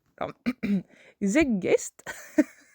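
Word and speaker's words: Zeitgeist: sujet qui est le Z zeggest. Ça s'écrit Z e I t g e I s t.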